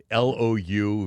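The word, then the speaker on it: Louvre: It's spelled L O U V R E.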